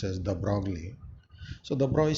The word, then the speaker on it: de Broglie: by de Broglie, which you people know commonly pronounce as de Broglie.